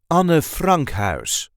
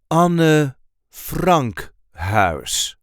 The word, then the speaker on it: Anne Frank Huis: This is the way we say Anne Frank Huis. Anne Frank Huis. So there is a light emphasis on the second word. Anne Frank Huis. Anne Frank Huis. Het Anne Frank Huis. Het Anne Frank Huis is where Anne Frank